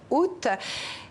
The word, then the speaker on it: août: L'histoire de la prononciation du mois août, du mot août, peut donc se résumer ainsi, Nidia. D'une part, on a longtemps prononcé le A initial, mais sans pour autant faire entendre le T final, donc Aou.